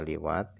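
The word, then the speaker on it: لواط: Cara bacanya liwat ini adalah bikasril lam dengan dibaca kasrah huruf lamnya liwat.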